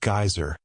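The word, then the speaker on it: Geysir: high above the waters the geyser a word the icelanders pronounced geyser and which signifies Fury Rose majestically from its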